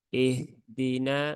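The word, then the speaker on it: اهدنا: Menghilangkan sifat rokhoah dan hams pada huruf ha di lafaz ihdina ya ha hi hu ha itu dia punya sifat ya salah satunya ada rakhaah dan juga hams ya Berarti suaranya mengalir dan ketika diucapkan itu disertai dengan aliran udara sehingga ketika dia dalam kondisi sukun ya tunaikan rakahnya ah nah begitu ya Bukan ah tapi ah ihdina nah seperti itu ya ihdi ya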